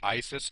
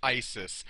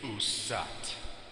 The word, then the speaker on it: Isis: answer where it reads the reconstructed pronunciation of the name is usat which is completely the wrong pronunciation she who sat upon